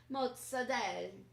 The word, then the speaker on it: mozzarella: similar to salami okay also great are the Jersey Talent pronunciations of mozzarella mozzade and prosciutto it may